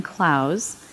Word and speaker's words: Clowes: sure you know and are here because dan klaus and that is the correct pronunciation um is one of the most celebrated